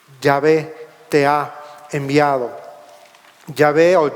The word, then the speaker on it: Yahvé: ve te ha enviado ya veo ya ve cómo es su profesión su pronunciación quizá más correcta se está identificando y